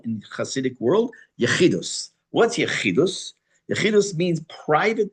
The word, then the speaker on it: Yechidus: That's called Yechidus. Probably also called Yechidut. But it's almost always pronounced with Ashkenazis. It's Yechidus, that you had private time with the Rebbe.